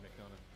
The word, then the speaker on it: McDonough: But like, JD McDonough.